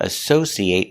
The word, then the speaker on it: associate: that's a verb associate now what if it's not a verb associate it making that short sound at the end it associate associate is not a verb an associate is a person a person that works